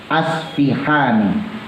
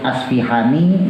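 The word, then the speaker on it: الأصفهاني: Imam Husein bin Ahmad Al ashfihani boleh disebut aspihani boleh asfahani boleh tapi yang jumhur ulama mayoritas nyebutnya Al Ashfi paknya di kasro tapi ada beberapa ulama yang menyebut al-asfahan sama aja jadi memang kalau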